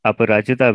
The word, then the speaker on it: Aparajita: Today I have Aparajita with me. I hope I'm pronouncing it correctly.